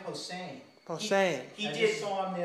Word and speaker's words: Posehn: We used to think it was Brian Posehn, but it's not. It's Brian Posehn.